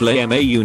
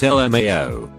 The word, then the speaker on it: LMAO: hashtag blessed I sail Mayo pronounced Lai Mau not LMAO out of pure irony